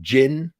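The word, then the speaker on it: Djinn: the Jin and it's it looks like it's spelled the Jin but it's that's actually the D is kind of Silent kind of like d Jango like Jin that's the how you do it and a Jin is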